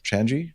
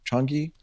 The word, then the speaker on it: Changi: always get this wrong, Changi? Changi. Changi. No G. Changi. A soft G. Changi. No G. Changi. There's a G there. Just a very. Okay. The G is silent.